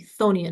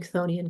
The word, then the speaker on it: Chthonian: saying it wrong because the dictionary says it's supposed to be Chthonian and the k is silent.